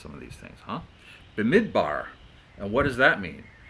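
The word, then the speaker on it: במדבר: But Numbers has to do with the name Brindamore, or Bemidbar. It's hard to pronounce some of these things, huh? Bemidbar.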